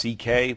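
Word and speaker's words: Sekely: My Hungarian grandfather's name was CK, but it's spelled it looks like S is it's a mess. It's S E K E L Y. And it sounds like CK, though.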